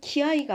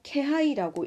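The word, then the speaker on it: 気配: 코노 케이카이신 또와 테키노 케아이오 사시따라 스구니 니게라레루 요오니 つまり猫が自分の身を守るために持っている本能です。이 경계심이라는 것은 적의 낌새를 이때는 키하이가 아니고 케하이라고 읽어야 됩니다. 키하이라고 읽으면 배려라는 뜻이 되지만 케하이라고 읽으면 기미, 낌새라는 뜻이 됩니다.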